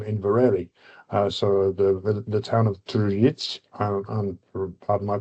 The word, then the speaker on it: Tržič: So the town of Tržič, and pardon my pronunciation, that's about right, wasn't it, Andraž? Tržič.